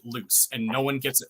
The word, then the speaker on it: Luc: So one character whose name is spelled L-U-C, you actually pronounce it loose, and no one gets it right the entire book, and it's a constant thing.